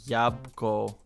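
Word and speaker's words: jabłko: So, mom is I have and then Yabco is apple and the L has the little It's the dark L. The dark L. It's a W sound.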